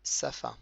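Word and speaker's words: שפה: C'est un he muet. C'est un peu comme le e muet en français.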